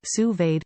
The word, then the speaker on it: sous-vide: Sous-vide, pronounced sue-veed, cooking offers the perfect level of doneness for nearly any food.